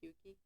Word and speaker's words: Pookie: So like every time I hear like go Pookie, I'm like But isn't it like saying pukey? what? Like pukey? You're pukey. No, it is pronounced Pookie.